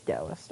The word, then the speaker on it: Taoist: Get rid of the yin yang, the Taoist symbol. Is it Taoist or Taoist? It's Taoist.